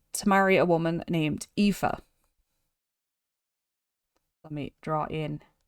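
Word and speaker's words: Aoife: so he decided to marry a woman named epha let me draw in epha this is how you spell epha um in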